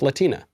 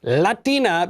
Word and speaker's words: Latina: you pronounce the word latina in english it's pronounced latina or hispanic or i don't know you could get more specific on the nationality it is not pronounced latina because that's not how you say words in